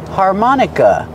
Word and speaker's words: harmonica: a harmonica presentation harmonica put the stress on the second syllable har like car and far har man like hot and stop man Harmon harmonica the last syllable is the short sound uh like cup and up harmonica this is a